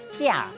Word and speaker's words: 食: 食这个字吼有两个音，白话音读作食，除了煮